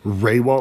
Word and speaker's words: Rehwoldt: Raywalt, like RAY-WALL-T. That's probably the best way.